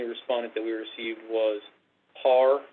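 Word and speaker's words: PARE: that we received was par is how it's pronounced p-a-r-e which is a group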